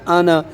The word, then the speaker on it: أنا: إنما أنا وإنما أنا ये बच्चों लफ्ज़ है ना आना ये नून के आगे जो अलिफ है ना ये हमेशा साइलेंट होता है कभी भी नहीं अलिफ पढ़ते आना أنا हाँ नज़ीरुम मुबीन